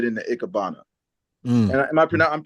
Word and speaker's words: Ikebana: But I do love the transition, like in particular that RFID instant transfer, which was a great transition right into Ikebana. Mm. And I'm pronouncing that right?